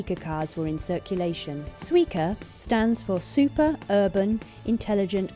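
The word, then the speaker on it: Suica: 2007 over 20 million suer cars were in circulation suer stands for super Urban intelligent card and the pronunciation is also a pun on the Japanese word from watermelon sua in the logo the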